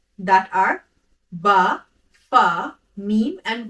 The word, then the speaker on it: Meem: Let's move to the third letter, which is Meem. Meem is pronounced from the dry part of the lips. In order to pronounce Meem, press the lips together and take the sound into the nose, doing nasalization.